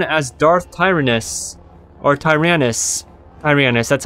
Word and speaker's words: Tyranus: is also known as Darth tyranus or tyrannis tyrannis that's how you say it let me jump